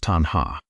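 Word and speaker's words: taṇhā: The Pali word is tanhā. Pronounced tanhā.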